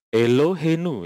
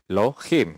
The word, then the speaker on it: Elohenu: Di sini ditulisnya Elohenu, ya, ditulis di sini Elohenu. Tapi ketika si Nandar melafalkan kata Elohenu ini, si Nandar itu tidak melafalkannya dengan Elohenu, tapi dia melafalkannya dengan Lohim, ya.